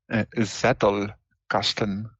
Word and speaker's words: Zettelkasten: Zettelkasten. Zettelkasten. Yeah, it's a German word.